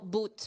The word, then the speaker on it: Boot: Germany so for example the that boat Bo boot boat how do we pronounce it boot International boot dorf Please spell